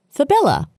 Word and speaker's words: fabella: Patella, cyamella, fibella. The cyamella is a sesamoid bone, usually embedded within the popliteus tendon, while the fibella usually sit within the tendon of the lateral head of the gastrocnemius muscle.